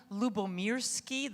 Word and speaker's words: Lyubomirsky: people are successful so my name is Sonia lubomirski this is I have I always provide a